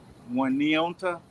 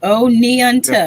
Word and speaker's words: Oneonta: That sounds like an Oneonta. Indian name. On neonta. You gotta say it Oneonta. like that.